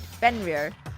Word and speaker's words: Fenrir: How to pronounce it. Fenrir. Yeah, I was right. Fenrir.